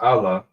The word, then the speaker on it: Allah: It is pronounced Allah.